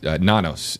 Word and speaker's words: Nanos: Um the the the history between uh the sheriff Nanos is how I believe you pronounce his name. Correct. Sheriff Nanos.